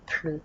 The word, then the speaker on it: plus: sens de plus est négatif on va pas prononcer le laisse donc on va dire plus par exemple je ne fais plus de sport